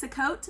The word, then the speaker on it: Sukkot: and we learned about Sukkot I've heard it pronounced several different ways to coat maybe um I've heard it from different people but regardless of how